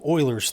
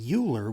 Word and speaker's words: Euler: of cool I think anyway and it's called Euler's theorem now a lot of people want to mispronounce this guy's name and say Euler which is kind of how it looks but it's pronounced Euler the guy was Leonard Euler he was a